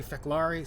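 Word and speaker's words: Fek'lhr: Sometimes they say Feklari, sometimes they say Fekiri. All we know for sure is that the devil in the Klingon mythology is pronounced Feklar. That was made very, very clear by Worf.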